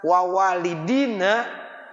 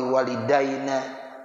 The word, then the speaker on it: walidina: Tuh, makanya kita bacanya walidina. Allahumma ighfir lana wali walidina wali masyaikhina. Ya, ini kadang-kadang ada orang sok gaya. Allahumma ighfir lana wali walidaina. Tanya tuh apa bedanya walidina dengan walidaina?